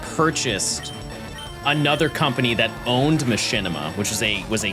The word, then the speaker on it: Machinima: Uh there was a company that purchased another company that owned Machinima which was a was a gaming company.